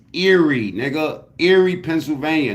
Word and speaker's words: Erie: exist do aie really exist probably not it's Eerie nigga Eerie Pennsylvania not a nigga I hate people that can't pronounce words especially old niggas s you know why cuz you don't got a life where's area anyway share this video hit the like button